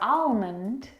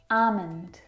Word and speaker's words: almond: It's not almond or almond. It's a almond. Almond.